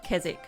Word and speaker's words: Keswick: life look at this Keswick island is actually pronounced Keswick although we didn't know it at the time it's just one of